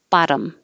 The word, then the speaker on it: bottom: And this one, we change the T's to a D, technically a flap, so it's just very quick. Bottom, bottom. It's the bottom button.